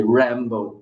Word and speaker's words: Rämbow: right exactly yeah and you PR pronounce it as so it's really Rambo exactly because yeah yeah